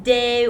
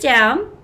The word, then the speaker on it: de: you know how we do it right at the top loop atta and then the important part here you're going to write d it's not pronounced day or d it's do and it means of